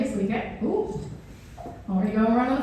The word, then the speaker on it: Lieke: But really, my name, quite easy, it's Lieke. And especially scientists can pronounce my name quite well when I tell them it's got the same sounds as Lieke.